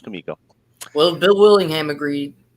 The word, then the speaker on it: Comico: artist on Elementals and I was calling it Comico for like 10 minutes and he said he stops he goes komiko and I was never more embarrassed in my life what if he was just fucking with me I've heard it since Bill Willingham agreed he says Kumiko he said it was kamiko well Bill Willingham agreed